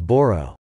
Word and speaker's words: Bodo: The controversial spelling of the word is Bodo, where the letter is pronounced not as d, but as hard r.